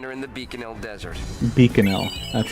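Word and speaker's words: Bikanel: Beaconell.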